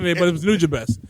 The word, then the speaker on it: Nujabes: New Job is I think I used have- to say Nujabes back in the day, but it was Nujabes.